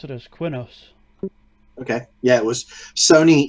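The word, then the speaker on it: Qeynos: Oh yeah, I always pronounce it as Quinos.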